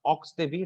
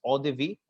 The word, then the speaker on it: eau de vie: It's not ox de vie, it's eau de vie. Eau de vie is nothing but a